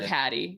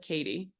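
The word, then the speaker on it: Cady: mispronounces her name too he calls her caddy and she said oh no it's like Katie and what reminds me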